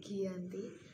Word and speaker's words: Giyanti: lokasi penandatanganan perjanjian yakni di desa Janti dalam pelafalan Belanda ia tersebut sebagai Giyanti dan secara tertulis ia terbaca sebagai Giyanti tempat tersebut sekarang dikenal